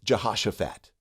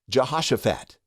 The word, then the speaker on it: Jehoshaphat: So the way you say it is Jehoshaphat, Jehoshaphat, Jehoshaphat.